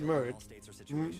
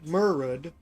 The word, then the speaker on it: Murchad: So at the end of chapter 2, Murd, spelled Murchad, I'm told it's pronounced Murd, Murud, I'm calling him Chad.